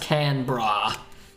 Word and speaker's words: Canberra: capital city of australia and it's pronounced can bra can we're off australia